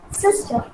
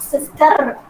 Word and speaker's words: sister: pronouncing this r but when a word ends with r we should not pronounce it okay it should be